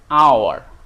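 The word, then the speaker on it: hour: কিন্তু যখন এইখানে আমরা উচ্চারণ করছি তখন কি? আওয়ার, আ সাউন্ড আসছে, যে একটা ভাওয়েল সাউন্ড। তাহলে সাউন্ড আসার কারণে এখানে কিন্তু এইচটা সাইলেন্ট, এইচের সাউন্ডটা কিন্তু আমরা পাচ্ছি না, এইচের সাউন্ড পাচ্ছি না।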